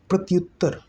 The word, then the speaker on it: प्रत्युत्तर: है, बोलिए तो जरा, प्रत्युत्तर, प्रत्युत्तर। उच्चारण में तो ई जैसा लग रहा है लेकिन फाइनली यह यू या है, या पे ऊ की मात्रा लगी है ना, फाइनली यह या है।